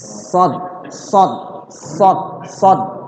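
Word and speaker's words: صاد: Dan cara mengucapkannya gigi kita dirapetin sad.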